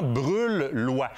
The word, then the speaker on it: Brulhois: en brulhois rouge et on prononce vraiment brûle loi ont les dents sur